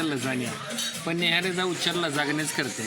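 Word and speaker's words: lasagna: लय आवड आता हे लजानिया मागवल ज्याच स्पेलिंग लय इंटरेस्टिंग आहे एल ए एस ए जी एन एच पण त्याला म्हणायचं लजाण्या पण नेहऱ्याचा उच्चार लजागण्याच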